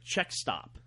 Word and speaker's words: Czech Stop: When we drive up there, there's a little bakery called the Czech Stop, but it's spelled like Czechoslovakia because it's there was a lot of immigrants that ended up there.